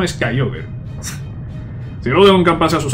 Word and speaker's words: Kyogre: La pronunciación es Kyogre.